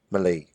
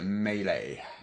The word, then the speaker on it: melee: English word medley but don't call it Mele Malay or melee melee didn't up well they legs handle mealy-mouthed yeah as a meanie or many use a melee oh you can skate